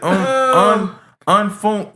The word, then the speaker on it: UNFOONK: Man, y'all so that nigga name is UNFOONK. He pronounced it, he said unfunk.